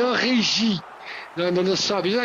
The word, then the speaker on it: Origi: La si dice Origi. Di Origi. No, sì, allora in realtà è Origi. È Origi.